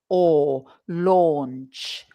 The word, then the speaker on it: launch: So again, it's this or sound. It's not ow. It's not au, ow. Or launch.